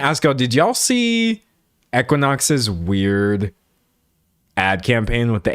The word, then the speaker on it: Equinox: Oh, it's Equinox.